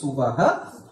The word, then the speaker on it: Subaha: So remember it is Subaha, okay?